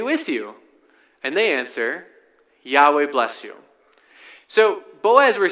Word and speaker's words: Yahweh: This is what you'll often hear people say, "Yahweh." That's our best guess at how that is pronounced, "Yahweh."